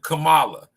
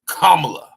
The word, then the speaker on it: Kamala: let me tell y'all her name isn't Kamala it's kamla you pronounce her name kamla not Kamala not Cela kamla she's not black she's